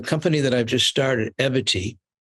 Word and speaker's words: Evity: that I've just started eity which sounds like equity and rhymes with longevity we are trying to